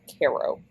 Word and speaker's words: Cairo: I keep wanting to say Cairo, and I know it's not pronounced that way. It's Cairo, Egypt.